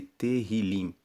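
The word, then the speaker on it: תהילים: No hebraico, o livro de Salmos é chamado de terrilim. Se escreve T E H I L I M e Terrilim significa louvores.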